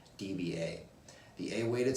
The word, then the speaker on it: dBA: decibels using a weighted song levels or it's pronounced DBA the a weighted sound levels closely match the